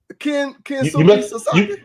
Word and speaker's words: Kensuke Sasaki: Kensuke Sasaki. Okay, all right. Now you got it right. What did I say first? You butchered the man's first name.